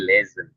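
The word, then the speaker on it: lesen: Tapi dibacanya jangan lesson ya, tapi lesson. Oh. Oh iya. Sor sori. Heeh. S jadi Z. Iya. Iya. Iya. Jadi kalau huruf S ketemu dengan huruf vokal ya. Nah itu dibacanya V Z.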